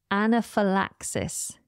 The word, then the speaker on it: anaphylaxis: All right, next on the list is the word anaphylaxis. Anaphylaxis. This is a noun and we spell it A-N-A-P-H-Y-L-A-X-I-S. Anaphylaxis. Now, the PH will often represent an F sound, as it does here.